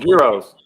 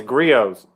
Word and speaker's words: Griot's: I think I know the T is silent.